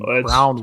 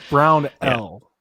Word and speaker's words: Brownell: Shout out to the several people that reached out about correcting that pronunciation. It's really Michael's fault when we think about it. Idiot saying Brownwell.